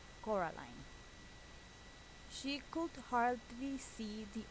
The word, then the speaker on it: Coraline: You know, kept saying Coraline, not Caroline. Not Caroline at all.